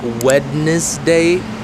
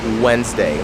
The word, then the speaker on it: Wednesday: have you're right Wednesday so even though it's about like weddness day obviously that sounds weird and bizarre so it is Wednesday like when when you say when oh when are you coming here right so it's wednes with a z day Wednesday it was Wednesday I